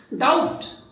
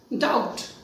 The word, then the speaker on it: doubt: We all know that B is silent here. It cannot be pronounced as doubt. B is silent, so it is pronounced as doubt.